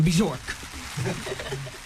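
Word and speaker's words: Björk: And she even pronounced the J in the name, Bjork.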